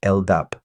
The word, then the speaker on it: LDAP: LDAP, pronounced LDAP, stands for Lightweight Directory Access Protocol.